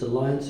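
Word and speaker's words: Allianz: And although it's spelled differently, it's Alliance Insurance.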